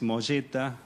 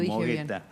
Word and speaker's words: Mogetta: Es italiano el apellido, así que es Molleta, la pronunciación correcta, pero claro, todo el mundo me conoce como Mogueta.